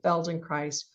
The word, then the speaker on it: Feldenkrais: So let me just say Feldenkrais rhymes with paradise.